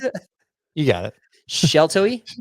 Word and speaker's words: Sheltowee: How do you pronounce it? You got it. Sheltoe? Sheltoe.